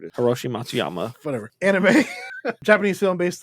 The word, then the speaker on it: Matsuyama: Hiroshi Matsu sama. Give me that. I got it. I said it. You butchered it. Hiroshi Matsuyama.